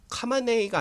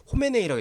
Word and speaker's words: 하메네이: 아직까지는 컨펌이 안 된 것 같은데 여러분 보시면 슈프림 리더 라흐마르라고 하는데, 라흐마르 알리 호메, 이게 카마네이가 아니라 이제 호메네이라고 읽습니다.